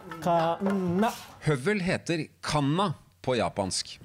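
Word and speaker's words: 鉋: Kanna. Kanna.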